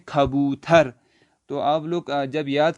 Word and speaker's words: کبوتر: یہاں پہ اوپر کبوتر، اس کو اردو میں کبوتر پڑھتے ہیں اور فارسی میں پڑھیں گے کھبوتر۔ تو آپ لوگ جب